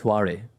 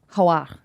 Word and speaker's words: Hoare: It's actually pronounced Hoare. Hoare.